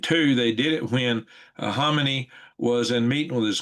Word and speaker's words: Khamenei: The K is silent. Khamenei.